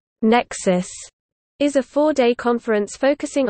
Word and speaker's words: NECSS: The Northeast Conference on Science and Skepticism (NECSS), pronounced as Nexus, is a four-day conference focusing on science and skepticism held annually in New York City.